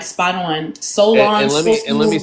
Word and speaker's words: Solange: Solange. No, Solon, right? That's how you pronounce it.